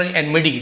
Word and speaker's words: enmity: देखिए ये लिखा हुआ आपका एनमिडी टी लिखा है एनमिटी जैसे बट एक्चुअल सेम एनमिडी ड जैसे उच्चारण होता है एनमिडी एनमिडी का मतलब